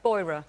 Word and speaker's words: Beurer: Do I pronounce it Beurer? Beurer.